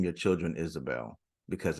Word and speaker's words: Isabel: get out they G try to pronounce a b with a V it's Isabel so Isabelle see you